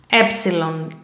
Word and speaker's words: epsilon: Okay, the letter epsilon, uppercase, lowercase, like this. And the pronunciation epsilon, epsilon.